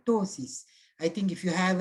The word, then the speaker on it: ptosis: The pronunciation, the spelling is P-T-O-S-I-S, but the pronunciation is ptosis, P is silent, ptosis.